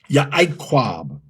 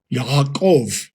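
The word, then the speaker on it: יעקב: That letter is Hayin, Hayin. In every Semitic language, it's pronounced Ha, Ha. From back here, it's not pronounced I or E. It's pronounced Ha, Hayin, Hayin. So for Jacob, you will say Yah, Yaakov, Yaakov. Now, the V came in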